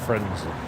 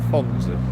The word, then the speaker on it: Frenzy: Lightning seeds frenzy. Frenzy. Not Fonzie.